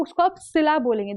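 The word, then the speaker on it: Scylla: Idiom बोलता है caught between, Saila नहीं बोलेंगे इसको, एक्चुअली हम इसको बोलते हैं सिला, ठीक है।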